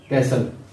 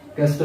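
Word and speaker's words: castle: कैसल, कैसल, इसको काफ़ी लोग कैस्टल भी पढ़ते हैं, ये कैसल बनता है, इसमें टी साइलेंट है।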